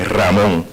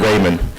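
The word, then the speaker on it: Ramón: thank you everyone here I can pronounce my name the right way Ramon um instead of instead of Raymond so uh it's a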